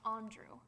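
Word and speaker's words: André: Pitt tonight in return for an accent over the am your name so it's pronounced on drew wonderful that's everything I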